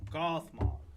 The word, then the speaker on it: Gothmog: gothmog that's his name I was I was pronouncing it wrong gothmog let me get some stuff here who's gothmog